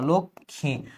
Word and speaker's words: লক্ষ্মী: Fourth রুলটা হচ্ছে যুক্ত ব্যঞ্জনের সাথে যদি মফলার কোনো যুক্ত ব্যঞ্জনের সাথে যদি মফলা থাকে, সেটা কোনো উচ্চারণ হবে না। যে অলরেডি যুক্ত অক্ষর ওর সাথে ম আছে, কোনো উচ্চারণ হবে না, জাস্ট উপরে একটা চন্দ্রবিন্দু বসাই দিবা, আর কিছু না। লক্ষ্মী, লক্ষণ, আর কিচ্ছু বসানো দরকার নেই।